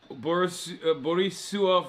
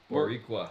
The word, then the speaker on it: Boricua: Borisua for life. Am I saying it wrong? Oh, How do you say it? Boricua. Boricua for life.